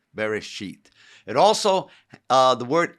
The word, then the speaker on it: bereshit: just said genesis means bearish sheet or the beginning exodus le if you want to know what bereshith is uh b e r e s h e e t very sheet it also uh the